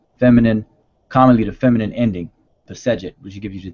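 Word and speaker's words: Pesedjet: They put an E between, as far as the vowels, between the consonants. So it's commonly pronounced as Pesejet.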